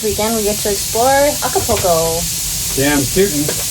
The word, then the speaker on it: Acapulco: And then this weekend, the rest of this weekend, we get to explore Acapulco. Damn tootin'. I said it right. I didn't put an extra L in like I've been doing.